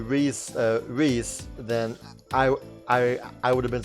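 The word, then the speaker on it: Riesz: If I wasn't already pronouncing Reese, then I would have been surprised. There was a time where I thought that she was pronounced Riez, which makes sense because the name is R-I-E-S-Z,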